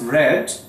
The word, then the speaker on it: read: she read this book as you know that read becomes red in its third form do the spelling remains the same but pronunciation definitely changes so it will be